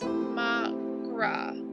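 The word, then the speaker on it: mo ghrá: Come on, Mogara? Irish for my love. One dialect would pronounce it as Magra.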